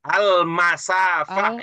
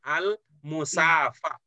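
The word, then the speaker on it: المسافة: Al-masafah ya. Al-masafah bukan al-musafah. Al-masafah.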